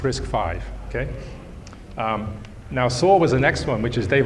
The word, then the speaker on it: RISC-V: why is the name risk five and it's pronounced risk five and the reason is it's the fifth iteration